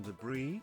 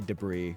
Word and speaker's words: debris: Did you pronounce the S in debris? No, I just say debris. Like he literally just said it. That's how I pronounce it. I don't say debris. I say debris.